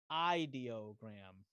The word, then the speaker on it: Ideogram: It's pronounced ideogram.